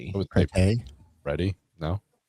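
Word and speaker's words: Pretti: His last name was How do you pronounce his last name? It's not pretty. It was pretty.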